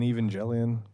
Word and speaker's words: Evangelion: Did you just put the J in Evangelion?